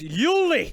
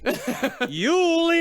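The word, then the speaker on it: Jule: It's pronounced Yuli. Yuli Eisenbud.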